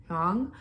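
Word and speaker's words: Hương: It's H-U with an accent, O with an accent, and G, Hong.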